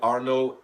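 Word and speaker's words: Arnaud: and welcome to my class my name is Arnold a r n a u d a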